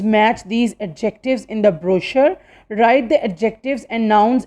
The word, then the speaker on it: brochure: n t i q u e its correct pronunciation is antique okay we speak like antique means very old next word is brochure broch you are e brochure it means a